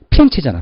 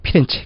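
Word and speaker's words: Firenze: 플로렌스를 영어식 발음이고 본토 발음 뭐죠? 피렌체잖아. 피렌체.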